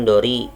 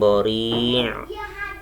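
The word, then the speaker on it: ضَرِيعٍ: Jadi bacanya bukan ming dori, salah, tapi bacanya ming bori, ri, ain matinya tetap masih ada bekasnya di ujung.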